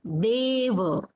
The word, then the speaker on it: deva: So you can observe the difference here. How we pronounced this deva? It was deva. Deva, where A was long, and here it is khetta. Metta. Khetta. Metta. So the sound of A is shortened, it is contracted.